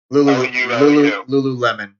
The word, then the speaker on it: Lululemon: Like Lululemon. Lululemon, Jason, is how it's pronounced.